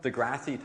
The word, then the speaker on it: deGrasse: i'm blacking on his name is it neil degrassi tyson is that how you say it neil degrassi tyson thanks yeah okay so someone neil tyson okay neil degrasse tyson thank you neil grant degrasse tyson um